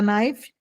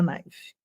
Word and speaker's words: knife: Would you like a fork and a knife? Você quer um garfo a knife? Knife, não pronuncia o K, tá?